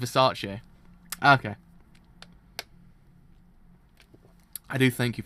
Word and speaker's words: Versace: I was like, was I mispronounced it the whole entire time? I actually was. So it's Versace.